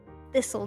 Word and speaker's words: Thistle: And it's spelt Thistle. Yeah. This'll do nicely.